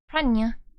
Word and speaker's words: piranha: A reference to the earlier thing, the NH in piranha originally is pronounced as a NY, which American English seemingly dropped.